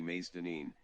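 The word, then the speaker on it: Mazedonien: Superbrain says in German it's actually Macedonien, explicitly asking for a S-like sound.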